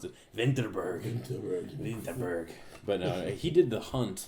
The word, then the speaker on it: Vinterberg: It doesn't look great, but what's exciting about it is it's from director Thomas Vinterberg, who did I think you pronounce it Vinterberg.